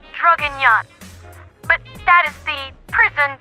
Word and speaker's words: Draguignan: I am not good at speaking French, but I'm pretty sure it is pronounced Draguignan.